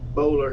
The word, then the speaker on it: Boulware: name of the plantation that my friend Barrett Bowler has. That's who he works for. Barrett Bowler. Yeah, Junior. Yeah, spell it.